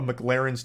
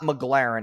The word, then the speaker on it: McLaren: spends filling up a McLaren's tank. Okay, so this part pisses me off because he says the name wrong like 8 times in a row. It's not McLaren, it's McLaren.